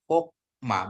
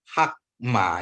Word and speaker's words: hokma: Bapak Ibu saudaraku ya kenapa jadiat ini jadi bacanya o Kenapa karena ini adalah ee tertutup ya Ee suku kata tertutup ya sehingga dia menjadi O berarti hokma bukan hakma ya Bapak Ibu saudaraku ingat